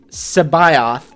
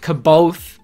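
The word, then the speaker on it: C'baoth: in the comments that is how Timothy Zan pronounces is joris Sao Sao it's not kabo look it up it's like SEO yeah I I've always said Sao and it looks like Sabo to me but I guess I got to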